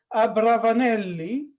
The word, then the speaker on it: Abravanelli: to Italy, in Venice, they used to call them Abravanelli, which is rhyming with Ravanelli, that is radish, the vegetable.